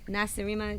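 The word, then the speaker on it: Nacirema: well let's talk about the new album okay NASA dream is that am I saying it right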